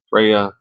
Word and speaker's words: Freya: this is talking about frea given name frea usage nor mythology English British modern pronounce Freya nor mythology meaning Lady